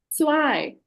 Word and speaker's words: zwei: So zwei, it's a sharper sound, right? That's why it's said. So eins, zwei, and Sugumar, would you like to try this one?